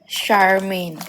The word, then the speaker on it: Charmaine: CH-nya itu dibacanya SH. Jadi Charmaine.